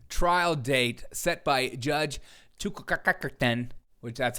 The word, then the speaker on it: Chutkan: Donald Trump's trial date set by Judge Chutkan, which that's how you pronounce it, and if you just say otherwise